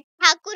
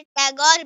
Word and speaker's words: ठाकुर: उनका परिवार इतना अमीर था कि उन्हें ठाकुर कहा जाता था, लेकिन अंग्रेजों ने इसे गलत उच्चारण कर टैगोर बना दिया। टैगोर परिवार बंगाल के पुनर्जागरण का अगुआ था।